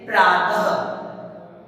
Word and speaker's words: प्रातः: विसर्ग का उच्चारण ख की तरह होता है, जैसे प्रातः।